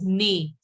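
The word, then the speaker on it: nez: pronounced as ne.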